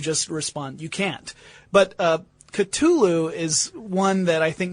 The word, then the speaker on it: Cthulhu: Cthulhu, or there's a pronunciation that Lovecraft wrote in a letter to a fellow author, right?